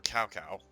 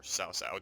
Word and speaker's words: Cao Cao: the King Elite for Cao Cao, or Cao Cao, depending on how you pronounce it. I prefer Cao Cao.